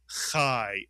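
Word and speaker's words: חי: This word is pronounced chai mitzuyan.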